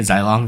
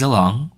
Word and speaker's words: Zilong: I keep pronouncing it Xylong because that's how I've pronounced it for so long, but the official pronunciation is Zilong, so, you know, keep that in mind.